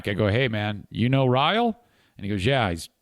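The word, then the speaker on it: Riehl: in Michigan called Joshua I believe you pronounce it rile r-i-e-h-l and um they talk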